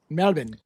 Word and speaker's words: Melbourne: Yeah, notice how I said Melbourne and it's like Melbourne. Like Pronounce it correctly. Melbourne. Melbourne.